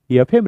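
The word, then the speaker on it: FM: Next one, फयम radio नहीं बोलते, we never say फयम radio, एफएम radio, a sound is there, correct. Function फ, fabulous फ, 40 फ, father फ, लेकिन फयम नहीं, एफएम, अ साउंड देयर।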